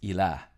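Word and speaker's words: إله: The word for God or something that is worshipped in Arabic is pronounced ilah.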